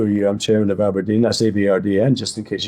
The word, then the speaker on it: abrdn: and you think well at least ABRD and you can say you pronounce it Aberdeene and therefore you know